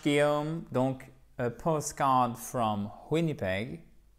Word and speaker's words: Winnipeg: Donc, a postcard from Winnipeg. Winnipeg. Accent tonique sur la première syllabe.